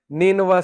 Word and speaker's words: نینوا: تو عدس نے کہا کہ میں نینوا سے ہوں. نینوا اس کا تلفظ ہے NINEVEH.